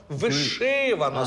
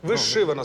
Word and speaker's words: вишивана: приймаю і вона правильна просто наголос мова йде про наголос і наголошено наголосити правильно вишивана сорочка вишивана сорочка запам'ятали та зафіксували Даш можна